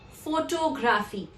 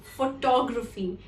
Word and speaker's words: photography: Many a times you will hear people pronouncing it incorrectly as photography. The reason being the word photograph. When you add Y to this word, it becomes photography and not photography.